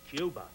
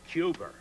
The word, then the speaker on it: Cuba: I kept telling Jack Kennedy, it's pronounced Cuba, not Cuba.